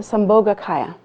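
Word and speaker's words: Sambhogakaya: Secondly is the samoga kaya. Everybody's looking at me like how do you spell that?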